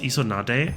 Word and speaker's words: Isonade: Water elemental pronounced Isonade.